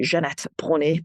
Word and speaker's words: Jeanette Bronée: It's not Danish, if anybody's wondering. It is French. My ancestors were French. So even though I'm born in Denmark and completely Danish, my name is French, hence the Jeanette Bronée pronunciation.